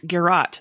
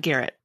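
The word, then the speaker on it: garrote: punishment oh that's hilarious it's garat not garrett not garrett the person so because i was i was explaining it to thomas yeah you're you're garottic not garretty correct and it's hard for midwesterners to get because that's not what it looks like when you're looking at the word so yeah just like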